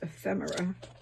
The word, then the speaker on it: ephemera: On one of the videos, somebody called it ephemera, and I just love that. But I did look it up in the dictionary, and it is pronounced ephemera.